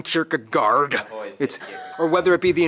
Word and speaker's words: Kierkegaard: Hans Christian Anderson philosophers that's actually how you pronounce his name wow it's not storing Kierkegaard or whether it be